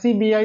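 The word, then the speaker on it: SEBI: पढ़ते है एस सीबीआई तो एस सीबीआई नहीं सेबी पढ़ पढ़ते हैं। अभी मैंने बताया था ना जी इससे कहीं पे लिखा हो तो ये एस ई बी आई नहीं सेबी पढ़ते हैं। और जब से पढ़ते है स का साउंड है तो सेबी।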